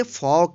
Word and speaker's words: folk: FOLK, इसको पढ़ेंगे फॉक। इसको फॉल्क नहीं पढ़ेंगे। क्यों? क्योंकि के से पहले एल है, इसलिए एल का उच्चारण नहीं होगा।